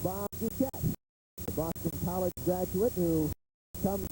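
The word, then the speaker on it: Dukiet: new head coach and his name rhymes with marquette it's bob duquette boston college graduate who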